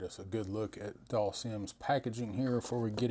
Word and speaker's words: Dhalsim: stuff out there now is it doll seim or doll Sim which is it how do you guys pronounce it I say doll Sim but I'm from the south and every vow has a long sound down here so I